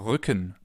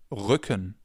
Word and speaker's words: Rücken: This sound is different than in English. In English it would be R. In German it's R. We form it more in the back of our mouths.